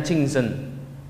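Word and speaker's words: 清真: Ini bacanya Jingzhen.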